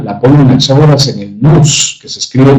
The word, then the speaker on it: nous: La causa de las distintas mezclas de la semilla la pone Anaxágoras en el nous, que se escribe nous.